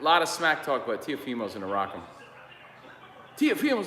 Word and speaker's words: Teofimo: on, like, so no, you're putting the emphasis on the wrong syllable. And I'm like, dude, it's Teofimo.